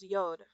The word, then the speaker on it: Yod: Y comes first, which is pronounced Yod.